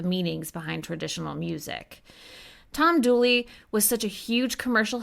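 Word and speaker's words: Dula: A man named Tom Douly, which was spelled D U L A but pronounced Douly in the local dialect, was born in Elkville, North Carolina in 1844.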